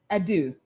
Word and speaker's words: Addoh: So tonight, my guest is Dr. Jones Addoh. Did I say it right? That's correct.